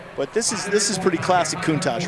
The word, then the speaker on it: Countach: It was Countach, kind of like Chipotle.